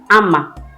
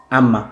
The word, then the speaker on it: Amma: same agenda spirit so for both Ashanti and fancy it's pronounced Amma Amma Amma yes but the